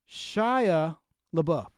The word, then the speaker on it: Shia LaBeouf: Shia LaBeouf is pronounced Shia LaBeouf.